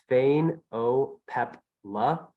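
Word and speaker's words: Phainopepla: least a few times you're looking at a thanopepla and that's Fane o pep La pepla that's four syllables this is a female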